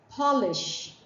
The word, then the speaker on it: polish: shine to a surface then we say polish rhyming with Paul but let's say you